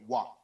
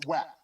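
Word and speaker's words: WAP: this drives me crazy it's spelled w.a.p but there's people out there pronouncing it wow right no it's wet like just sound it out for number one if you you have if you're struggling with this then number two would you call rap rap it's rap rap so what rhymes with rap yeah they want that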